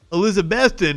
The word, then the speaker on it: Elizabethton: No, Elizabethtown is in fucking Kentucky. Elizabethton is in fucking Tennessee.